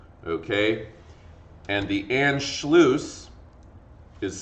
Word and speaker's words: Anschluss: 2 years later, in March of 1938, there is an incident known as the Anschluss. Anschluss, okay? And the Anschluss is spelled like this.